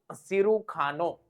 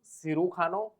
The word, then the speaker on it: cirujano: Then next is cirujano means surgeon. Cirujano. J is pronounced as K.